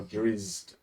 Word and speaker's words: drow: cities cuz those are worse how do you pronounce it's not drits that's not the way it's spelled yeah I always said it but it's it's drizz drizz so they're staying here okay and did